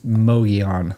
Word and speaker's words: Mogollon: Ben says Mogollon. Okay. Mongolia? No. It's I think it's Mogollon. The Mogollon Rim. Yeah. Right. Yeah. The Arizona Trail goes on the Mogollon Rim.